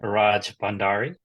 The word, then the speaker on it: Rajbhandari: My last name is pronounced Rajbhandari. So the B in the Bandari is almost silent. So that makes it easier to to pronounce.